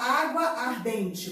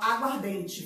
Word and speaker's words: aguardente: E você não fala água ardente, você fala aguardente. Viu que a pronúncia ficou diferente?